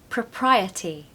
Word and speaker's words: propriety: Number 7, propriety, propriety, propriety.